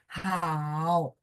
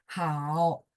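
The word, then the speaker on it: 好: Contohnya huruf tunggal itu kalau nada tiga kita baca full namanya. Hao. Jadi dia turun baru naik gitu ya. Hao.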